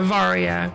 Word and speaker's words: Varia: Yeah, now that I know the the origin of it, it feels weird to call it the variety suits.